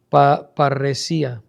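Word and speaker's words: παρρησία: La palabra confianza traduce el vocablo griego parresia, con acento en la I.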